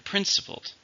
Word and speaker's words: principled: How many syllables are in principled? Same number, same stress.